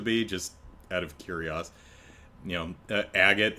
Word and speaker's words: Agate: Agate is agato, kurosuna. So it's probably agate, but agate's probably close enough for English.